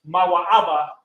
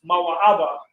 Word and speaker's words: Moab: Moab equals Mawa'aba, means pronounced Mawa'aba, of his father, of his Abba, of his father.